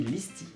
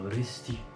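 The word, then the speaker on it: Risty: Et sinon, on a aussi Listi, ou Risti, parce que le L ne se prononce pas en fait au japonais.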